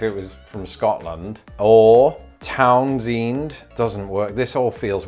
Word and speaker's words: Townsend: with that torn's end it was the other vowel sound so again according to another reddit user who is from delaware apparently it is pronounced townsend ind okay well that's